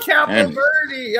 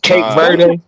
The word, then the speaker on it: Cape Verde: I'm a Captain Verde. I'm like, oh, sit your Wow. You didn't even say it right. Cape Verde.